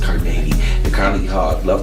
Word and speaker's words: Carnegie: It's pronounced Carnegie.